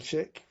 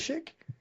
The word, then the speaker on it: Shick: Is it Shick? It is Shick, It is? yes. Okay, perfect. It's not a silent chic or anything like that.